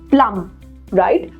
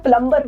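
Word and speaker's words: plumber: okay but we should not use this word प्लम right प्लम के आगे अगर हम ये भी लगा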